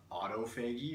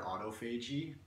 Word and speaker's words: autophagy: There's something that happens called autophagy or autophagy, depending on how you pronounce it, but it's basically just a fancy word for cell turnover or cell cleanup.